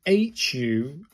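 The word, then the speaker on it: ふ: Pronounced as hu like the word who.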